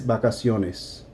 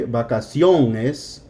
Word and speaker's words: vacaciones: So instead of vacación, where the accent is, you're going to add this vacaciones. So you're not going to say vacaciones. It's just vacaciones. Vacación, vacaciones. You hear the difference? Here's the accent, here's not.